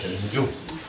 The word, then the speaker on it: 전중: 그래서 전중이라고 읽는데 내 단중이라고 그래요. 중국 사람도 단중이라고 그래요. 단중이 아니고 전중, 가슴 전, 전중이라는 혈자리가 있어요.